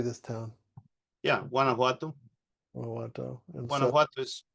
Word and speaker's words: Guanajuato: Yeah, Guanajuato.